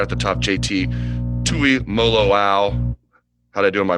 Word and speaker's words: Tuimoloau: Let's start right at the top, JT Tuimoloau. How'd I do in my pronunciation there?